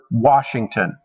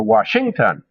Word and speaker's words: Washington: stressed and unstressed syllables example our word washington the first syllable the wah is where we put more emphasis we don't say washington or washington we say washington so the stress is put on that first syllable well poets use the